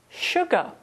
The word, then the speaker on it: sugar: between pronunciation and spelling in the list of words I read out those words all had sh but of course with sugar there's no h in the spelling we have another fun